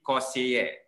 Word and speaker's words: conseiller: Now, the pronunciation in French would be conseiller. All right, conseiller.